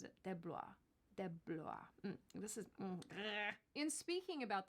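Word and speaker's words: DeBlois: film's director Dean deis de deis that's how he pronounces it deis de this is in speaking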